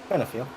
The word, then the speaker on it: Benefield: Benefield. It's just an L. Why does everybody keep giving him a D?